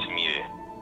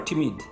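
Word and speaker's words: Temide: Yeah, it's Timide. So it's Tim or Timid? Timid. You can call me Timid.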